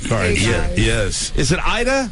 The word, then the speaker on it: Ayda: our business uh card here yes is it Ida it's pronounced Ida that's correct Ida a y da yes Ida